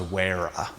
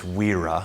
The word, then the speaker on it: Wera: It's pronounced, the Americans, or the North Americans, say Wera. I thought it was Wera, but it's Wera. Makes sense because there's not two R's.